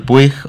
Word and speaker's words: Puig: mismo dice apellido polivalente, así que elijamos cómo pronunciarlo, pues Miguel Roig, sí, que es como Manuel Puig o Puig, ¿no?